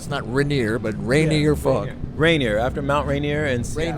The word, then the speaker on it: Rainier: I read it I wasn't sure how to pronounce it so it is raining or not snot Rainier but rainy or Rainier after Mount Rainier and slam yeah yeah and